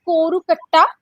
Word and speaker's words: Kozhukatta: So it is pronounced as Korukatta, right?